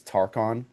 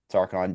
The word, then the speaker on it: Tarchon: He visits and makes a pact with King, I think it's Tarchon, is how you say it, to join him in the war with the Rutulians.